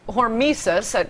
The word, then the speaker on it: hormesis: Well, interestingly, it's called hormesis, that's how it appears to be pronounced, I've only read about it, the beneficial effects of radiation.